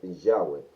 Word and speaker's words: Yahweh: el concepto protestante, pero el término que se, que se ha encontrado que es el más adecuado en la pronunciación de lo que se conoce es Yahweh. Y no vamos a entrar